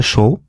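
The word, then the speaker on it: 少: তারপর এটা হচ্ছে কম বা অল্পের কাঞ্জি, হ্যাঁ, এটা হচ্ছে অনের উচ্চারণ হচ্ছে শো, আর কুনের উচ্চারণ হচ্ছে সুকুনাই বা সুকোশি।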